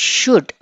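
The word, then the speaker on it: should: This is షుడ్, L silent వినిపించకూడదు, షుడ్.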